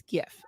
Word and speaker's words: GIF: So it's a hard G. Okay, so it is GIF.